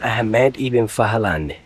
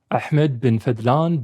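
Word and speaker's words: Ahmad ibn Fadlan: This is how you say his name in Arabic. Ahmed bin Fadlan bin Al-Abbas bin Rashid bin Hamad. He says he was once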